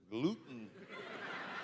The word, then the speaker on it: gluten: gluten gluten glut gluten gluten the te is silent in English apparently gluten so I look at